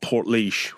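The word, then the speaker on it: Portlaoise: So, a place called Port Leash, which uh it's funny to watch people try and pronounce it if they've never heard it before because it isn't spelled how it sounds, but smack bang in the middle of Ireland.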